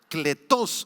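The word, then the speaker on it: κλητός: son llamados digan llamados cletos en griego con k y acento en la o cletos significa Llamar a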